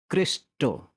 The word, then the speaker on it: Krishna: the ultimate god so in my particular language krishna is actually pronounced as cristo which is similar to christ so even the name